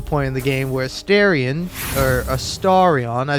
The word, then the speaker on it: Astarion: So anyway, fun fact, I got to the point in the game where Astarion, I say Astarion because that's how I pronounced it until I've heard him say it, where he goes, Astarion.